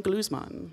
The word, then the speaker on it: Gluzman: guy is the internationally renowned violinist of edema glues mom so far so good and did I say your name correctly do i pronouncing yes absolutely Vadim glues monton ok I wanted it's as far as I